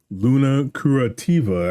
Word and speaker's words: Luna Curativa: Before we get into current mindset, I just need to know, Luna Curativa.